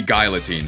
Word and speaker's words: Guillotine: Yeah, I've been pronouncing it wrong. It should be Guillotine, sorry.